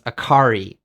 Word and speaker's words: Akari: put the emphasis on the second to last syllable. So Akari becomes Akari, Tanaka becomes Tanaka, and Yusuke becomes Yusuke.